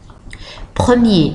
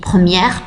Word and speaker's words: première: Premier, premier, première, première. Là, le féminin et le singulier et le pluriel ne sont pas de la même prononciation que le masculin, que ce soit en singulier ou en pluriel.